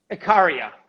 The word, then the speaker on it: Ikaria: I was going to ask you, what are you doing in Ikaria now? How do you say it? Ikaria or Ikaria? Ikaria.